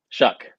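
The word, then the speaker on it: Shough: transfer Tyler sha show I'm not sure how you say it what shuck okay that's good good job it's off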